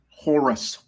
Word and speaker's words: Horus: And Horse? Jesus came out. Did you say horse? Horus.